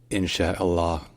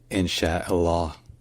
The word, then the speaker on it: Inshallah: silent so put it all together and it's insh Allah in Allah or sometimes in but again the U at the end is mostly silent so let's practice together insh Allah insh Allah one more time insh Allah so perfect but you should know that depending